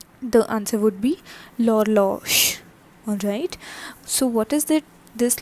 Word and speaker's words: l'horloge: L'horloge. So in French, one thing there is to be noticed, that H is usually not pronounced and the next word, next alphabet along with the H is pronounced.